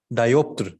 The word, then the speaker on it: diopter: okay so you can use any of the pronunciation as you like diopter it's diopter okay optics you know optics so